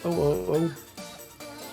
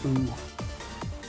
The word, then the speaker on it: Oh: They picked Oh. This one was one of the meme songs from this tournament, AGTS 2018. It's actually pronounced O, not ooh.